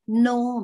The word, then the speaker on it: know: Itu bapaknya bacanya no, Mbak, nggak pakai k ya, k-nya nggak dibaca.